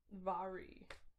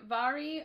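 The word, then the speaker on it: Mhairi: my ari it's okay it's pronounced really weird if on the back you look her name's pronounced vary oh i know i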